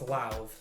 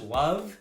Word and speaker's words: Lauv: it up today okay it's as if you're gonna pronounce loud but make the d a v so it's live okay because i've always struggled and i've heard love yeah i'm like i